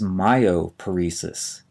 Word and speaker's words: myoparesis: r s i s the first term is myoparesis m y o p a r e s